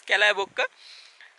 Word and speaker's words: Kallebokka: welcome to upper-division viewpoint Kalibak something like that anyway it's pronounced as Cala Boca remember the kal avi